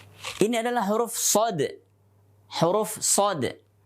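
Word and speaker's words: صاد: Huruf shad. Bukan huruf so, tapi huruf shad. Kalau kita ingin mengucapkan shad dengan benar, maka harus diakhiri dengan dal dalam keadaan sukun.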